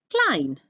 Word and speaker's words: klein: Klein, small. Remember the EI makes I sound.